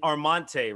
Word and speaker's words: Armante: all right cool you ready yes sir and armante right that's how you pronounce it all right what's going on everybody